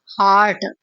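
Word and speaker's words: heart: हार्ट। ठीक है? इसे लंबा प्रोनाउंस करेंगे। जो दूसरा होता है एच यू आर टी वो हर्ट होता है।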